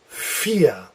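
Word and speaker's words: vier: forgot to put here a V always sounds like an F yes so the word like this is feel feel or the number four is fiea yeah okay and a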